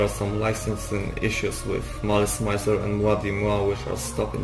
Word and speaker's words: Malice Mizer: The name Malice Mizer stands for Malice and Misery. So yeah, it makes sense that it will be pronounced as Malice Mizer. That's also how the band members pronounce it.